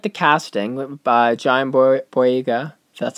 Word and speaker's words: Boyega: I like the casting by John Boyega.